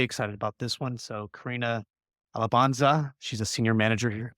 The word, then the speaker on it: Carina Alabanza: So Carina Alabanza, she's a senior manager here, UX here at Reltio.